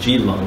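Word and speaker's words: Keelung: Okay, I don't know if you can see that, but here's, it's pronounced Geelong City, but it's Keelong's city, Geelong City, KL.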